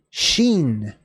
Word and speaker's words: shin: all right so kofresh sheen sheen so just like your shin which is between your knee and your ankle that's kind of how that's pronounced Sheen is the next